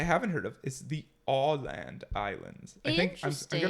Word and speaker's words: Åland: It's Åland. That's how I would say it. Åland. Åland? Åland. Holland? No. Ireland? No. It's spelled A-land, but with an O on top of the A, like the O accent.